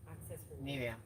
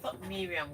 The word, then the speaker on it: Miriam: I thought Miriam was the Muslim way to pronounce the name. So what did you find out now? She says her name is Miriam, Not Miriam. not Miriam.